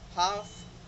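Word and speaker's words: half: pronounce नहीं होगा, like काफ, CALF, लेकिन एल साइलेंट है, सो इट्स काफ, हाफ, palm, would, should, could, Fock, York, इन सब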